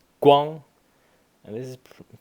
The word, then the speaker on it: 光: Guang. And this is, for some reason, it's pronounced Guang here, and the translation here also has it correct.